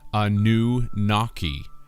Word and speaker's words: Anunnaki: Anunnaki is phonetically Anu-Naki, or a new water